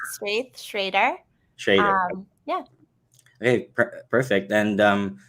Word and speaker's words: Straith Schreder: parents went all in on the alliteration it's straight Schrader yeah okay perfect and um tell me about